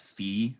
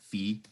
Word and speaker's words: phi: of theta minus that's Fe by the way Phi but pronounced Fe so the cosine identity